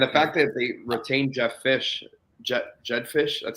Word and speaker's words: Jedd Fish: And the fact that they retained Jedd Fish, that's how you say it, yeah.